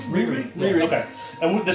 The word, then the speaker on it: Riri: Is that how we're pronouncing her name? Riri.